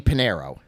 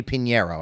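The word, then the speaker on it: Piñeiro: My guy that I would draft off of this team is their kicker Eddie Panero. Eddie Pinero, I should say, mispronounced that.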